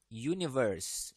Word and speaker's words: universe: pakai e e house perhatikan di sini Universe Universe ini secara kelihatan itu menggunakan huruf mati ya huruf konsonan tetapi aturannya adalah bukan huruf depannya yang dipentingkan tapi suaranya ya karena suaranya ini dimulai dengan y Jadi dia menggunakan e